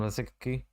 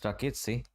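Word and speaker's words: Rakitić: A decent, very decent ball actually in from Rasicki. I beg your pardon, it's Rakitsi, the pronunciation.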